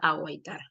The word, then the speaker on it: aguaitar: Pero joven, ¿por qué la U está sonando si no tiene diéresis?